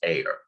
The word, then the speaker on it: are: called an error and that is a r e but it's pronounced air and we denote that